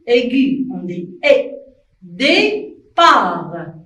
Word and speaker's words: départ: Départ. Et aussi, T, c'est une lettre muette. On ne la prononce pas. On écrit, mais on ne la prononce pas. On dit départ.